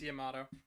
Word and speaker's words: Yamato: It's It's Yamato. It's Yamato spear. Yamato spear. Sorry. I don't know why I always say it like tomato.